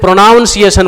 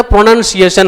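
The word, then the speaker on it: pronunciation: उसका प्रोनंसिएशन सही रखेंगे जैसे मैंने कहा प्रोनंसिएशन बहुत लोग क्या कहते हैं प्रोनाउंस एशन बोल देते हैं तो प्रोनाउंस एशन नहीं होता प्रोनंसिएशन होता है उसी तरीके से उच्चारण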